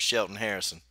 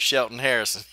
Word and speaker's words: Shelton Harrison: and you're watching coach Sheldon Harrison quote Joe Harrison no no no coach Shelton Harrison everybody gets it wrong so don't worry about